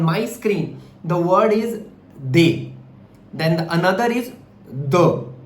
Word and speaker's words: des: The word DES is they. The another is the. DEUX is pronounced as the, which means two, and they means some.